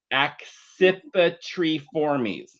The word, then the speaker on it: accipitriformes: The way you pronounce one is, get ready for it, it's accipitriformes.